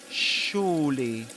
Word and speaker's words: surely: Surely surely surely you would just stay put.